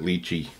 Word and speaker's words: lychee: i will put below if you've never had light key or some people pronounce it lychee whatever I say likey it's kind of a